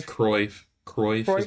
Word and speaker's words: Cruyff: a real quote, but it was is it Cruyff, the guy that Pep, the great player, is it Cruyff? I can forget his name. I think it was It's Cruyff. Cruyff. Cruyff is how Cruyff? you pronounce Yeah, it.